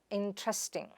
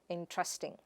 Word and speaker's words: interesting: The next word is interesting. Some facts are quite in-tre-sting. It is not in-ter-est-ing, but in-tre-sting.